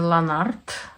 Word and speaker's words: Lanarte: wanted to show you this is lanart they say that this is the right way to pronounce it um I don't have